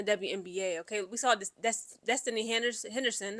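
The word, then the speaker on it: Destanni: Okay, we saw this Destiny Henderson. I'm sorry, I want to call her Destany, the way that her name is spelled. Destiny Henderson.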